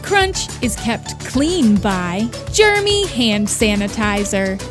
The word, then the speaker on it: Germy: The Kayfabe Crunch is kept clean by Germy Hand Sanitizer. It's spelled Germ-Y, like other popular brands, but we prefer to say Germy.